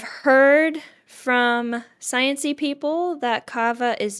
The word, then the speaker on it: kava: Another thing that I've heard about that I have not tried and so cannot attest to is cava. It's spelled K A Va.